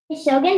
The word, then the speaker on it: Shogun: the A short, and you have an N that's closed. Thank you.